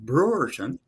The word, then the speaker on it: Bruorton: to love it and my last name is pronounced Brewerton you know how to